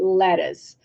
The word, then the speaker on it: lettuce: so we have lettuce it's not lit to see but it's letter we write little C but we say lettuce because I'm thinking I